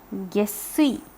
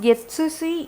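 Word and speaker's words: 月水: This will be pronounced as Gesui, which means Mondays and Wednesdays. That's what that means. Mondays and Wednesdays. Gesui, not Getsui, it's Gesui. Please remember that there is a small tsu over there.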